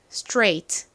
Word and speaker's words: straight: 소리 나는 AI 그리고 레이인데 그냥가 오는게 아니라 무음인 gh 들어가고요 그다음에 t 옵니다 여기서 a i g ht요 부분이 8 라는 발음으로 쓰였죠 자 따라해 볼게요 straight 한 번 더 straight